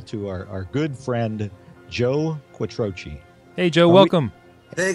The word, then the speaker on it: Quattrocchi: We would very much like to introduce you all to our good friend, Joe Quattrocchi.